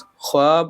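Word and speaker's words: خواب: Question number 148 ख्वाब और खुश में जो वाव इस्तेमाल हुआ है उसे हम क्या कहते हैं, तो उसे वाव मादुला कहते हैं जो साइलेंट होता है।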